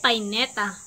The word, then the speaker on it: payneta: binabagtas ang paaralan araw-araw ang panghuling salita naman ay pineta ang tamang pagbigkas nito ay payneta ang payneta ay ginagamit